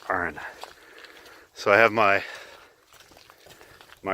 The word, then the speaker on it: Arran: on the isle of iron and Scotland alright you gotta make sure you pronounce it correct Aaron so I have my